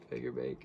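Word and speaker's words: Fagerbakke: it tom kenny and bill figure bake is how you say that i think they i mean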